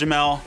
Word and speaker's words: Jamal: Spelled Jamal, pronounced Jamel.